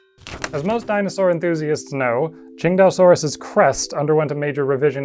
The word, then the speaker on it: Tsintaosaurus: I am pronouncing this Tsintaosaurus.